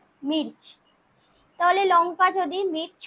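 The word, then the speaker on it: मूंग: মুগ হবে মুং। ময়হস্যু গ, এটা বাংলায়, এর মধ্যে একটা অনুস্বার ঢুকে যাবে, মুং।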